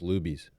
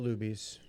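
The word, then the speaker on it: Luby's: popeyes uh lucy's tumble it's actually pronounced loobies not lubies lucy's tumble and uh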